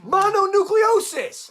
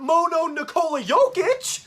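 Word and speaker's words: mononucleosis: Monucleiosis, not mono nicola yic.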